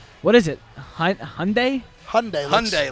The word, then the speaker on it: Hyundai: is it Hyundai Hyundai Hyundai like Sunday Sunday but with an H uh it happens to